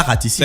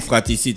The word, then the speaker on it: fratricide: C'est pas raticide. C'est un crime fratricide, ça veut dire quoi? Votre prononciation, enfin. Oui, c'est la prononciation là qui n'est pas. Je pense qu'il y a un R qui manque.